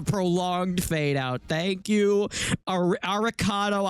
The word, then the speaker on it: Arikado: Thank you, Ariccado. Avocado. How do you say your name? Aricado.